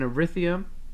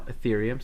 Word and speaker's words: Ethereum: much okay one there's an arithium uh uh no ethereum sorry why do i say it like that there's an ethereum uh